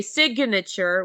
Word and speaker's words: signature: but when we say signature we pronounce the G and the N okay um so we